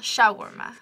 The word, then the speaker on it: shawarma: Like, stress on the first syllable. Shawarma.